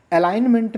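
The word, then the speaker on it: alignment: हम लोग जानते हैं एलाइनमेंट में बहुत इंपॉर्टेंट है। देखो ए एल आई जी फिर एन एम इ एन टी एलाइनमेंट बोलते हैं। लेकिन ध्यान से रटेंगे एलाइनमेंट। एलाइनमेंट में जी साइलेंट है।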